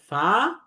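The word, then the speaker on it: فاء: এরপরের যে দুইটা হরফ আমরা দেখতে পাচ্ছি, একটা হচ্ছে ফা এবং কফ। ফা হরফটি 1 আলিফ টেনে পড়তে হবে, উপরের দাঁতের আগাটা নিচের ঠোঁটের প্যাটের সাথে লাগবে।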